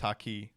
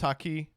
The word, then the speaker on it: haki: had he had conqueror his hakei hakai how do you say it I've never watched one piece uh he he's damn good he is uh it was haki all right sick he